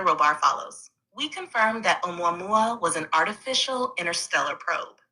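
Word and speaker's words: ʻOumuamua: The object you're referring to is called omua mua, pronounced roughly mua.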